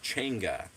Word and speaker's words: Changa: Well, apparently it's pronounced Chenga, but it's pronounc or it's spelled Chonga.